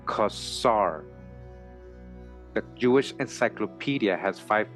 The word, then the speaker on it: Khazar: either Kazar or Cesar is pronounced like the first syllable of custom with the words kasar added onto it it is correctly pronounced kasar the Jewish encyclopedia has